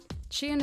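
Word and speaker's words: Shein: report in your DMs shine is how I tend to pronounce it chin isn't just fast fashion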